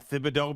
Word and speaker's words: Thibodeau: to say tibs but i end up saying fibs and thibodeaux because i believe that's the way it's pronounced i think most people